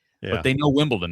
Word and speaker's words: Wimbledon: They couldn't even tell you that the US Open is a major, but they know Wimbledon. They may pronounce it Wimpleton because they have no idea what they're saying, but they do know the name, you know, it's just one of those things.